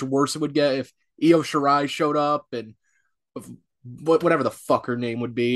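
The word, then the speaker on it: Io Shirai: rolls off the tongue it sounds like yo shirai i mean genius of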